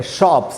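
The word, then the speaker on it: shops: पहला वर्ड है शॉप्स। इसमें पी के बाद एस है। पी एक वॉइसलेस साउंड है। तो यहां एस को स पढ़ेंगे।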